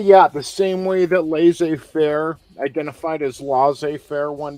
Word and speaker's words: laissez-faire: say do you say laissez-faire or so the French way if you speak French you know it's laissez-faire that's how it's pronounced